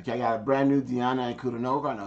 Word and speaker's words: Ankudinova: Okay, I can't say Ankudinova. It's Diana Ankudinova. That's how you pronounce it. Ankudinova.